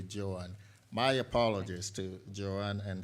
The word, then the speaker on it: Joanne: And just to make clear, I believe I may have mispronounced Joanne. I called her Joan. I think it should be Joanne.